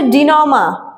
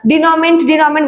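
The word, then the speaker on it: dénouement: আচ্ছা, 7 নাম্বার হচ্ছে ডিনমা। এটা উচ্চারণটা ডিনমেন্ট এটা হচ্ছে ডিনমা হবে, ঠিক আছে?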